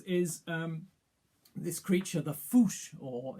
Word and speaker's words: fossa: um this creature the foosh or it's spelt fossa but it's pronounced foosh and it's this incredibly